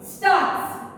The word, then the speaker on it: storks: Stocks. Storks. Stocks. In this word also we should silent the R.